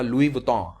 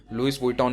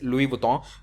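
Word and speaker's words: Louis Vuitton: का नाम सुना होगा, लुई वुइटन। हाँ, इसका ऐसा ही प्रोनाउंसिएशन होता है, लुइस वुइटन नहीं होता। मैं भी बचपन में से यही कहा करता था, बट the actual pronunciation is लुई वुइटन।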